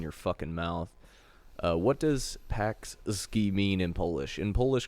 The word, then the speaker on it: Pączki: It also makes sense that nobody can pronounce Jan Blankowicz's name right, because this is spelled as Pączki, but it's pronounced Pączki.